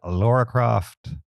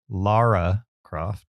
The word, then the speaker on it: Lara Croft: Uh, number six, the affforementioned Laura Croft. Lara Croft, that's how you say it.